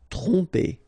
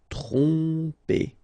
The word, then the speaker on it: tromper: Tromper, okay, same thing here. OM, so, and after that you get a consonant, so technically you will pronounce it like a nasal here. OM will go like on. Tromper, tromper.